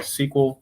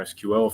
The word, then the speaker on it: SQL: he recommends, which is SQL or SQL, if you choose to pronounce it that way, or Squirrel.